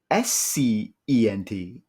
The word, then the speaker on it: scent: I'm gonna say that the S is silent because C-E-N-T is scent. Right. S-C-E-N-T is scent.